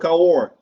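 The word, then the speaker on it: Cahors: you see this so the reason is called car war it spells the CAH o RS horse but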